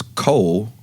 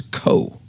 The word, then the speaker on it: Cole: His middle name was Cole, but he insisted that his middle name was Coe.